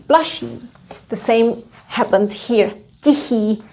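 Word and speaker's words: plašší: If you want to say shyer, someone is shyer, it would be plaší, funnily spelled with double sh, but we only pronounce one.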